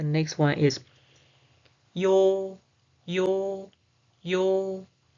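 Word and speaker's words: ㅛ: Okay, the next one is yo, yo, yo. The pronunciation is yo, yo, yo, yo, yo, yo, yo, yo.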